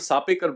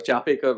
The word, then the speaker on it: Chapekar: So two brothers called the Sapekar brothers, or the Chapekar brothers, I always, difference of pronunciation, but Chapekar brothers decided that they were going to kill him.